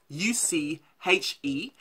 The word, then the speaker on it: Uche: My name is Uche, and that's spelled U-C-H-E, but with an E, just think of it with an accent over the E to make the A sound, so it's Uche.